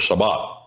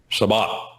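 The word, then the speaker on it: Shabbat: Sabbath. That's a Hebrew word. Sabat. Sabat. What does it mean? It means seven. That's the way you pronounce the number seven.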